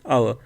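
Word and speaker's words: hour: ऑफ द ऑफ एन आवर तो एक quarter quarter consonant है एन यूज़ हो गया आवर आवर से पहले क्या आता है एन यूज़ होता है ठीक है क्योंकि एच यहां पे साइलेंट है नाउ द नाइंथ इट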